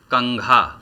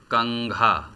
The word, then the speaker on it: कंघा: जैसे शब्द है कंघा, कंघा। तो कंघा शब्द में क के बाद जो है हम अंग का उच्चारण करते हैं।